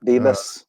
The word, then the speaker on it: Bibas: I'm pronouncing it wrong, Bibit's family or something like that? Bebas, yeah. Bibas, yeah.